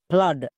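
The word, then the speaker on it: flood: জন্য আকার সাউন্ড হচ্ছে একই রকমভাবে এফ এল ডবল ওডি ফ্লাড এখানেও দেখো ডবল ও আছে এবং এর ঠিক পাশে ডি আছে তার মানে ডি কে দেখে আমি বুঝতে পারলাম ডবল ও এর জন্য আকার সাউন্ড হবে এভাবে করে বুঝতে হবে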